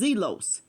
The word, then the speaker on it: zelos: That is not a straight, the word is Zelos. That's the pronunciation, Zelos or Zelos.